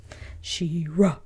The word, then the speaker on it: She-Ra: It has 2 syllables. And Ra is one of them. She-Ra.